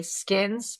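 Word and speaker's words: Ckins: Skins, pronounced that way.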